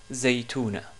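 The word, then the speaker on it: زيتونة: Notre mot aujourd'hui est le mot Zaytounatun. Zaytounatun ou Zaytouna, tout court, puisqu'on a une ta marbouta à la fin. Donc je répète, c'est Zaytouna. Ce mot-là commence par le son Z, ici en rouge.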